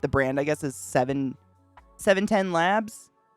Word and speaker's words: 710 Labs: brand i guess is seven labs i think is how you say it 710 labs and it is called